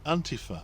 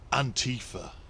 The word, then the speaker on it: Antifa: What's the problem with Antifa, or as the American alt-right would have us pronounce it, Antifa?